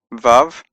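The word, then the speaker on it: ו: ha as in ha sixth letter is V the straight line with a little bit of a something at the top VAV and it has a v sound V is in vain then we have Z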